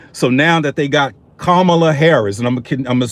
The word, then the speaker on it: Kamala: I just thought Kamala was Kamala, just like Pama is Pamela.